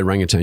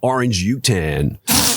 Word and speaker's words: orangutan: You got to say orangutang. You got to say it like Americans, you know, orange utan, you know.